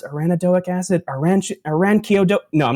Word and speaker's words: arachidonic acid: Someone just posted the actual pronunciation. It's arachidonic acid. Correct.